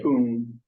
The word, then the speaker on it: Poon: okay, and it's pronounced Poon. Mhm. And the two principals, their last name is spelled P-O-O-N, is that correct? And that's pronounced Poon.